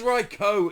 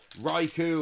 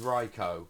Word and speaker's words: Raichu: And it is Reicho. Incidentally, one of the Pokemon that gets mispronounced a lot. Raichu and occasionally Ryo, but it is Reicho. I double checked on everything.